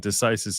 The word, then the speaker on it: stare decisis: stare is spelled like the word stare, like to stare at someone, S-T-A-R-E, and decisis is D-E-C-I-S-I-S, like ISIS, decisis. Yeah, like that.